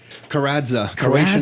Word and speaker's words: Karadza: for rockstar real estate i don't want to mispronounce the last name so why don't you guys say your last name carradza correction last name father scottish mother we